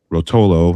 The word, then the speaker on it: Rotolo: Gallagher, like you mentioned, and John Rotolo. I think that's how you pronounce his name.